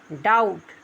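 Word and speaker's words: doubt: डाउट।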